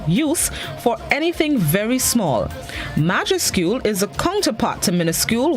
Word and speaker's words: majuscule: This morning's word of the day is majuscule. Majuscule. It's spelled M-A-J-U-S-C-U-L-E.